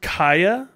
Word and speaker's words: Chaya: sort of break off um recently uhhuh it's pronounced Kaa don't care about her but it's a fairly